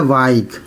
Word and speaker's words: bike: देखिए रूल भी बोल रहा है कि साइलेंट रहता है। जैसे BIKE, क्या हो गया? बाइक, ई को नहीं पढ़ना है।